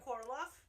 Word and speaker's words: Korolov: call me Korolov.